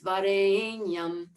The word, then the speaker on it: Varenyam: going, Tat Savitur Varenyam, Varenyam, Varenyam, but it's Varenyam. The Gāyatrī Mantra has 24 syllables in it.